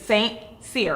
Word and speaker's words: St Cyr: But he was St Cyr, right?